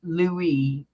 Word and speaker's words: Louis: Louise King Lou Louis Louie the S is silent Louie yes like cela's